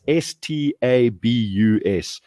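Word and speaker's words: Stabus: they're called starbucks but it's spelt one word no spaces hyphens or anything to help clarify it's s-t-a-b-u-s stab us and stab us have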